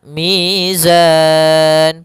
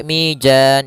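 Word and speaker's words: ميزان: Kemudian mizan pada lafal zan mad arid lukun. Hati-hati jangan sampai mijan. Jangan dibaca dengan jim jangan pula dibaca dengan dalan dengan dzal. Tapi di sini huruf zai harus jelas zanya.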